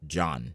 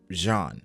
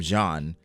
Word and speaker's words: Jean: his name is not John. His name is not John. It's, I guess people pronounce it as Jean. In the anime, it's clearly like Jean.